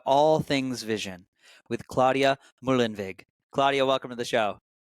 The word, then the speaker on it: Muehlenweg: you say it for the audience Claudia mulen mulen viig you yeah it's subtle it's so unique I